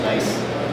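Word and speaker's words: gneiss: nine meter slab a type of rock called nice and histology and e i s s but it's pronounced a nice group and I was from a foreigner subgroup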